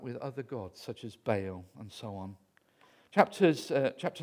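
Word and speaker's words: Baal: tendency to worship bail bail that's how it should be pronounced not bow bay owl and in Israel they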